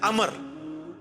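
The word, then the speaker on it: عمرو: था अच्छा लेकिन वह लफ्ज ही गलत है लज उमरू तो कोई लफ्ज ही नहीं है लफ्ज है अमर लिखा होता है उमरू लेकिन उसका मतलब वाओ जो है वो साइलेंट होता है और वाव का मतलब यह है कि आपने इसे पेश की बजाय जबर से पढ़ना है उमर की बजाय पढ़ना है अमर तो हजरत अमर बिन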